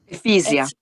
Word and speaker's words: Efisia: Ephesia. I know. Ephesia? It's quite difficult. Yeah, it's like imagine fizzy water.